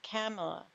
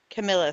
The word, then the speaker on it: Kamala: Kind of like Biden did with Kamala. I keep saying Yeah. her name wrong. Camilla, sorry. Kamala. Thank Comma. you. Kamala. La. Like a comma. Thank you. Kamala. Comma. La.